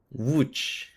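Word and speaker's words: Łódź: And the O, if it's got a thingy on the top, it's a double O. So it's a long O. So W would maybe. How to pronounce? Oh, here we go. Wooch. Woo. Okay. W. So wood and ch like the ch sort of sound at the end.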